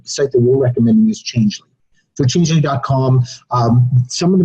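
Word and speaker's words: Changelly: How do you spell that, Case? Changely is CHANG. But it's Changely.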